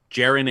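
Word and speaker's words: Ceren: see e re n he's pronounce and she pronounces it Jared that's a Turkish name jaren and jubair events okay I love claiming the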